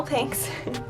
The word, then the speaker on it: Pinx: I'm using the millennial Pink's palette for some reason I totally disregarded the fact that this is spelt with an X and was calling it the millennial pink palette but um it's millennial Pink's first I'm gonna go